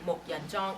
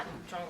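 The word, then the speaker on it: Muk Yan Jong: or dummy so you always have to say m Yan Jong and not M Jong like georgean said so that's a formal way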